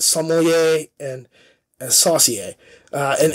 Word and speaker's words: sommelier: is a sommelier okay it's not somalia it's sommelier and saucy and it's